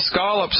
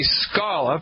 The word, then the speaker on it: scallop: they got lobsters and scallops up there ain't no such thing as a scallop by the way ladies and gentlemen the correct pronunciation always has been and always will be Scala ain't that right Allie